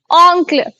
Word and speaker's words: oncle: ऑन्क्ल, मोनोंक्ल।